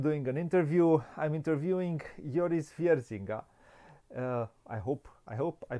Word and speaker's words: Joris: It's Joris, yeah. Joris, Joris. okay. Joris Wiersinga. Welcome. Apologies for the Dutch name, it's unpronounceable.